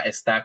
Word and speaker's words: está: Yeah, and just remember that when you see that accent, you got to give it some pop because actually there is a word esta, and that's a big difference because esta is this, and esta is he or she is, right?